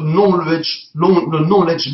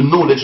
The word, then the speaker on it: knowledge: Et de tirer le knowledge management. On appelle ça. Le knowledge avec K, mais qui ne se prononce pas. Le knowledge management.